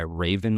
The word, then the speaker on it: Wraven: guy who goes by Raven Labs on TikTok and Instagram. The Raven is spelled with a W. It's WRAVEN.